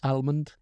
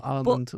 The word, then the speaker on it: almond: cashew Armond thank you a lot of people I know pronounce the L in Armond and I think almond oh I'm not American no almond I like put it in